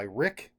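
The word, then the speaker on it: Ryk: K digital Night by Rick e Spore R YK I assume is pronounced Rick and uh in this book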